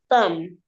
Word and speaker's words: thumb: Then the next picture here is a Thumb. Thumb. Good job. This is a thumb. And the silent the B there is also silent.